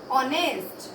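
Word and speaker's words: honest: एच से start हो रहा है लेकिन एच साइलेंट है, लेकिन साउंड इसकी किससे स्टार्ट हो रही है, आर, एन ऑनेस्ट।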